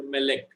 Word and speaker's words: melek: In some cases, accent fall on the next to the last syllable, that is called mil-el. For example, here melek. So over may, that syllable which is stressed, that arrow-like syllable, it is called ole.